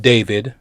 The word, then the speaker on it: D4vd: an artist by the name of David. And David spelled with a four, as you can see, D4 V D, right?